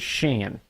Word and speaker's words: Shan: Not Sean. It is Shan.